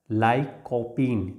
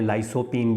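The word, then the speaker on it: lycopene: किस एलिमेंट का वो होता है लाइकोपीन जिको लाइकोपीन भी बोलते हैं लाइसो पीन भी आप बोल सकते हो तो आपको इसके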